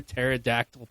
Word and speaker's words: pterodactyl: you can't hear a pterodactyl pee? Do you know? Yes. Yes. Yes. You do. All right. Yeah. Just say it. No, I want you to say it. The P is silent.